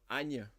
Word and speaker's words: anh: So the first line, so Anya and not An, because it's nh.